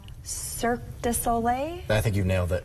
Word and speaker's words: Cirque du Soleil: it's like, I'm going to say it wrong, Cirque du Soleil?